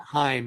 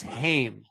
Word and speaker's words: Heim: And Heim is not Heim, it's Heim. So it's in this case Asgård and Nifla Heim, right? Midgård, Muspels Heim, etc. Okay. Helheim, Svart Alpha Heim.